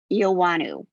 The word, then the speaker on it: Eoannou: There is no W in the name, I'm just saying, but it is pronounced as if there were.